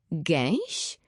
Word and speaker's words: gęś: Gęś? Czyta się to tak dziwnie. Podzielmy na sylaby. Gę i ś. Gęś.